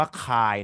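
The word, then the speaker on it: χ: ออก นะ ก็ คือ อ่าน ว่า คาย นะ ฮะ CSI คลาย ไม่ ใช่ ตาย ทัก ทราย นี้ คน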